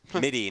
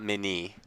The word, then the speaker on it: MIDI: MIDI, not Mini. MIDI, like the MIDI. MIDI file.